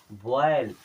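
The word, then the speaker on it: boil: बॉयल।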